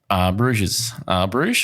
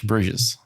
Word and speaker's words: Bruges: Didn't get to go to Belgium, which is disappointing because I knew we were going through Bruges. Bruges.